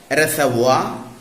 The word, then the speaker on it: reservoir: See some other wrongly pronounced words in English: reservoir, boudoir, abattoir, repertoire. They are correctly pronounced as reservoir, boudoir, abattoir, repertoire, and so on.